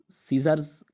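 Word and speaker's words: scissors: और इसी तरह साइंस है, साइंस माना इल्म, सेंट खुशबू, सीन मंजर, सीजर्स कैंची।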